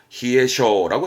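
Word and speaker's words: 冷え性: 그러니까 말하자면 냉한 체질을 말할 때 냉한 체질을 히에쇼라고 씁니다 야스가 보이네요 히아스 히아스는 차하게 하는 가장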